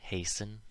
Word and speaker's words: hasten: So, of course, there are words where this happens, where the T is always silent, like these ones. Listen, soften, moisten, fasten, hasten, glisten, and often. You'll notice the endings of these all rhyme with in.